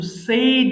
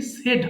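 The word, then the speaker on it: said: কিন্তু এটা কিন্তু সেই হলেও পরেরটা কিন্তু সেইড হবে না, সিম্পলি সেড হবে।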